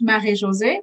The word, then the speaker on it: Marie-Josée: My name is pronounced Marie-Josee, but in English, everybody calls me.